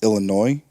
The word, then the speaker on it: Illinois: and then after Michigan its Illinois because the S is silent and number five Virginia